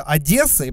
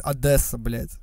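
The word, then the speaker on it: Одесса: вроде когда же злятся когда город называется одессы произносится через е они бесятся когда кто-то говорит adesso вот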